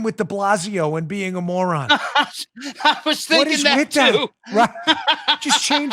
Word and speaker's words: de Blasio: speaking of morons like de blasio rhymes with defazio why is new york